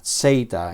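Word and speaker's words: ζῆτα: Algunos enseñan el sonido del nombre de esta letra con la vocal breve, Z, pero yo lo he aprendido con la vocal larga, Seita.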